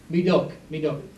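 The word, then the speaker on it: Médoc: Medoc.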